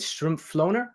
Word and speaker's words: Strumpflohner: before the stream so I'm not going to pronounce it right now um but uh I uh oh is it is it shrimp floner oh that's perfect okay all right all right